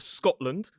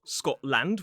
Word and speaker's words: Scotland: names or place names, we often pronounce it land. So we reduce the vowel from a a to a. So it becomes awah. So we have England, not England. We have Scotland, not Scotland.